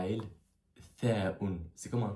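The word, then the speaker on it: ث: Il suffit de faire sortir l'air de la bouche en le bloquant avec la langue. Ça fait th, th, thaoun, thaoun.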